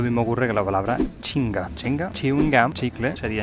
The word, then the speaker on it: chingá: Es decir, han cogido esta palabra británica y le han puesto la pronunciación andaluza. Lo mismo ocurre con la palabra chinga.